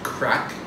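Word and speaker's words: craic: First of all is crack. Crack. You gotta know crack, and it's spelled C-R-A-I-C.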